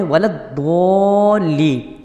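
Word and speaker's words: ولا الضالين: مسئلہ سماعت فرماتے ہیں۔ بعض لوگ ولدضالین کو ولدضا یعنی زواں کے ساتھ پڑھتے ہیں، ان کا ایسا کرنا حرام ہے۔ اعلیٰ حضرت امام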